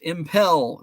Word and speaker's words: Impel: It's pronounced Impel.